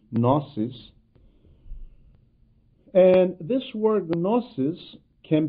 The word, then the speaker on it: gnosis: language means knowledge and i am purposely pronouncing it as a gnosis actually in the english language the g is not pronounced so it would be gnosis and this word gnosis